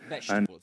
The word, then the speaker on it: vegetable: Three syllables, guys. Vegetable. vegetable. So the first parts you don't say veable or vegetable, you say vegetable, vegetable, vegetable. And um this may sound a bit strange, but this word is quite similar to comfortable.